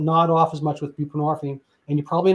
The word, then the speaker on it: buprenorphine: But to be fair, Suboxone came along, and that's buprenorphine, and people are like, what is that? Well, I mean, the hint is it rhymes with morphine, which is derived from